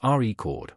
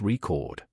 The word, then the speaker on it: record: For example, in the word record, the noun form is pronounced as record, while the verb form is record.